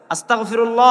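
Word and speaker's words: أستغفر الله: আমরা তো পড়ি না, আস্তাগফিরুল্লাহ, আস্তাগফিরুল্লাহ, মানে এমন ভাবে গাইনটাও উচ্চারণ করতে পারে না মুসলমান। আস্তাগফিরুল্লাহ, আস্তাগফিরুল্লাহ পড়ার পরে কেউ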